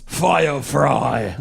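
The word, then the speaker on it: Feuer frei: Oh, it's Fire fry. yeah, it's pronounced fire.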